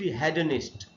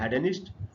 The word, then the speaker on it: hedonist: ये जो वर्ड है दोस्तों आप देख रहे हैं HEDONIST, हेडनिस्ट। ब्रिटिश इंग्लिश में इसको पढ़ते हैं हेडनिस्ट, अमेरिकन इंग्लिश में इसको पढ़ते हैं हिडनिस्ट।